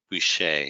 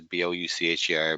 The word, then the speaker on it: Boucher: my last name is Boucher. It's French. I know it looks weird. It says B-O-U-C-H-E-R, but it's French and you say Boucher.